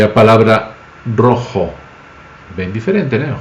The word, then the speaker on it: rojo: Por exemplo, a palavra roxo em português e a palavra rojo, bem diferente, né? Roxo, rojo. Mas rojo escreve R-O-J, que é o J-O. Um brasileiro que vê a palavra R-O-J-O vai ler como roxo, bem parecido com o roxo.